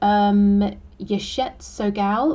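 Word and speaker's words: Yeshe Tsogyal: Okay, so how do we pronounce this? Yeshet Sogal, I believe, Lady of the Lotus Born.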